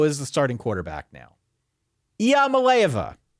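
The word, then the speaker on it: Iamaleava: the starting quarterback now IIA malova is how you say the name Nico is how I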